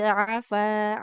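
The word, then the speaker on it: عَفَا: Afa, wala qad afa ankum. Nah, fa-nya dua harokat karena fathah bertemu dengan Iya, alif. alif.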